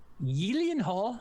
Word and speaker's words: Gyllenhaal: for swayze dalton roadhouse is being rebooted jake yilian hall uh as he's as he says it's pronounced jake jake gyllenhaal will be starring in the role as a